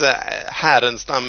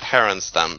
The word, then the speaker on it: Härenstam: your last name yeah it's Haren stum in Swedish but Haron Stam basically it's a Swedish name and it's kind of tricky to pronounce I'm really excited to